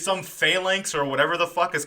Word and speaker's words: phalanx: it's about, it's some phalanx or whatever the fuck is coming to eat the world and universe It's to pronounced phalanx. Phalanx, whatever. Phallus. Phallus? There's It is There's phallic. an N in there.